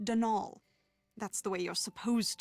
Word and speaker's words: Donal: That was the caretaker, Denol Delaney, not Donald, mind you. There's no D at the end, so it's pronounced Denal.